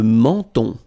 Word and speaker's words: menton: Le menton. Okay, same thing here. So you get two nasal. The first one here, en, and then the second one here, on. Le menton.